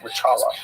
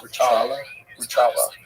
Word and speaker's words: Rothschild: Rothschild. Rothschild.